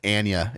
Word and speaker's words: Anya: name anya taylor julia her name is pronounced anya anya taylor joy i refuse to say that yeah it's anna uh uh raymie malik